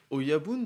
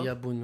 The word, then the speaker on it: Oyabun: C'était donc Oyabun, c'est bien ça, c'est la bonne prononciation, je me plante pas. Oyabun, ouais, c'est ça.